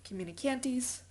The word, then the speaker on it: communicantes: for you Rami communicantes just like communication but it sounds like something out of the old west communicantes all right so the purpose of the ram communicantes is to feed onto